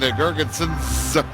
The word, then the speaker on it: Girgensons: He likes to have that S pronounced at the end, Girgensons, like most Latvians.